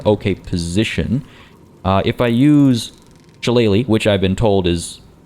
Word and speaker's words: Shillelagh: If I use Shillelagh, which I've been told is being pronounced decently, so thank you.